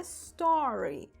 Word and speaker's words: story: com outro sentido tá Primeiro vamos falar da pronúncia né porque o osso um monte de gente falando aí do referente aos Stories do Instagram falando estranho estranho né na verdade do Instagram é o Store olha repete aí ó a story inclusive o plural é Store assim né o plural ou